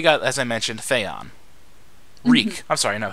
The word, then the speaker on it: Reek: So, now we got, as I mentioned, Fyon Reek, I'm sorry. No, his name is Reek. It rhymes with Meek.